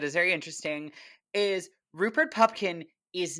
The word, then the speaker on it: Pupkin: were saying I thought his last name was pumpkin for the first 20 minutes of the movie